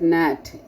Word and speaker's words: gnat: Like, there are few words given like gnat. You cannot call this word gnat. It's because G is silent here.